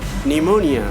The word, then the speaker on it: pneumonia: not going to pronounce, we are not going to use that letter P, make it silent, make it mute. So here the example is psalm, cephalogy, cephalogy, pterodactyl, pterodactyl, pneumonia, pneumatic. So see here, combination of PS, combination of PS, combination of PT, combination of PN, combination of PN. Here in the all cases, P is silent, and you better understand